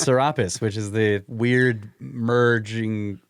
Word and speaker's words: Serapis: It is actually pronounced Serapis, which is the weird merging Greek/Egyptian.